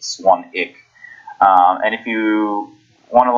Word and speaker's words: Swanwick: spilled Swanwick even low ii w silent it's pronounced swung ich and if you want to learn about 30-day